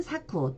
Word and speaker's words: 作: 그러면 만들다 라는 뜻인데 일본어로는 쯔꾸르 로 읽어주고 요 한국으로 작으로 발음을 할 때는 일본어로는 사쿠 또는 4 로 발음을 하시면 됩니다 예지 단어를 가보겠습니다 4 워낙